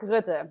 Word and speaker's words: Rutte: Rutte? How do you pronounce the name of the leader of the Netherlands? He's a serious member of the World Economic Forum, too. What's his name? Mark Rutte. Yes, Rutte.